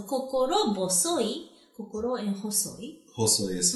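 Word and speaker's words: 心細い: But since, it's a compound word, that pronunciation changes. Okay. Ho to bo. So, kokoro bosoi.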